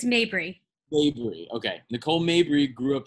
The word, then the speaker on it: Mabry: uh nicole mabry nicole am i pronouncing your last name right mabry uh close it's mabry okay nicole mabry grew